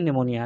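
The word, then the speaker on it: pneumonia: Spelling P से start है। लेकिन यह है निमोनिया।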